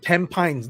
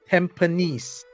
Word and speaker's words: Tampines: And my wife worked in, that's not Tampines, that's Tampines. This is how we pronounce it. It's Tampines. Most people will pronounce it as Tampines. But no, it's not Tampines.